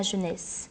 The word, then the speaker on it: jeunesse: Si les vers ont été l'abus de ma jeunesse, le E final du mot jeunesse ne se prononce pas.